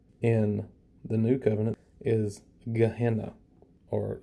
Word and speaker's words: Gehenna: It's pronounced Gehennah, but I guess in English we pronounce it Gehennah.